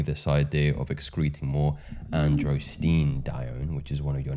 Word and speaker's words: androstenedione: Pine pollen and its impact specifically on the pheromone androstenedione. Finally learned how to pronounce it correctly.